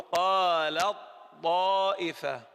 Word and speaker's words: قالت طائفة: أنا لا أنطق التاء، أبدأ بالطاء مباشرة، أقول قالت طائفة.